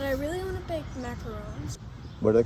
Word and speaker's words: macaron: But I really want to bake macarons. What are they called? Macaroons? Macaron. Macaron.